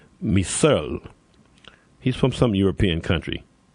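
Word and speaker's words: Mehserle: I think it's pronounced Misel.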